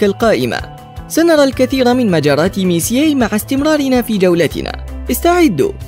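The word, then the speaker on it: Messier: حسنا أيتها الشابة، يشير حرف M إلى ميسيي وينطق اسمه ميسيي.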